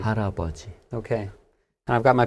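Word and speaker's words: 할아버지: So, to look at it kind of phonetically or syllable by syllable, it looks like but when we say it, it sounds more like an R sound. Haraboji. Haraboji.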